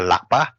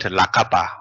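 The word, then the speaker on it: ལག་པ: it's not lakapa. Okay, if you say lakapa, and then there's no more exist the suffix.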